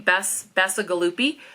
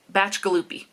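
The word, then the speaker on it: Bacigalupi: name batch gupy so I was saying bass Bassa gupy it's batch galopy and he says it himself it's a little YouTube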